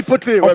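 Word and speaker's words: Poeltl: On dit Potelé, merci, c'est écrit Poto.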